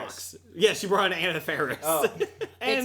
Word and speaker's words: Anna Faris: So I did not know it was Anna Faris, so Okay.